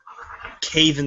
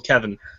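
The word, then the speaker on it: Kevan: Well, actually, Tywin pronounced it Caven Lannister, but Cersei says Uncle Kevin.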